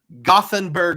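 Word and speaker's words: Gothenburg: place so how about gothenberg Sweden which is pronounced yorg it's one of those towns where they have an English spelling and a Swedish spelling so I was told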